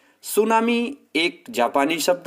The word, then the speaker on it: tsunami: का प्रयास करते हैं सुनामी एक जापानी शब्द है जिसमें दो अगर इसका विभाजन करें तो टीएसयू थी साइलेंट है सू सू का मतलब होता